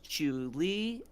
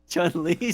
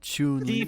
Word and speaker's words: Chun-Li: Okay, we got Lara Croft, we got Princess Peach, Chu-Li, Alex from Don't even have to say her name. It's Chun-Li, sorry. Chun-Li.